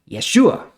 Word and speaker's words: Yeshua: Canaan now it's interesting the Hebrew pronunciation of the name Joshua is actually Yeshua now that sounds a